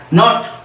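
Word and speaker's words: knot: টা কিন্তু কে এন টা নো এর মতন উচ্চারণ হয়েছে বুঝতে পেরেছ তারপরে দেখো আরেকটা উদাহরণ দেই কে এন ও টি নট দেখো কে এন ও টি নট এই যে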